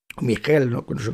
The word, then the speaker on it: Michel: se llamaban Elías Michelle Michelle se pronuncia en alemán porque era alemana y a Miguel este